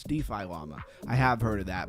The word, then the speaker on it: DeFi Llama: I was trying to say it like one word like defilimia or something like that. No, it's DeFi llama.